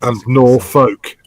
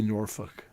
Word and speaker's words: Norfolk: do you pronounce you pronounce that norfolk don't you yeah it's basically norfolk yeah in american english yeah the uh the whole olk thing just kind of gets blown off yeah yeah in our